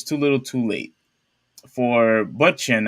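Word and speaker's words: Bündchen: For Butchin, I don't know how you pronounce that, but Bunchen. oh, so I said it right, Bunchin.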